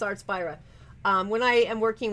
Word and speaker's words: Artspira: when I use my art spirit app artp I'm even saying it wrong artp that's I'm so sorry it's supposed to be Inspire it's supposed to be a the SP so it's art spy um when I am